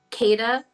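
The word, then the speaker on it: Qedah: is his name is kadis kada can you spell it yes kadis is c a d i z kada q e d a h okay um I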